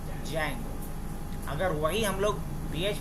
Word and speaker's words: Django: सवाल है कि यह जंगो या डिंगो इसको जो भी आप प्रस कर लेकिन इसे हम लोग जंगो ही बोलते हैं डी को साइलेंट रखते तो चलो यह तो